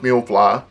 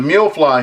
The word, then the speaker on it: Miufly: of the box looks like I believe it's pronounced meal fly this one it comes in 32 gigabytes and